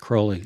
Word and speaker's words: Crowley: you know was a disciple of Crowley it's pronounced Crowley alist C I didn't know that okay good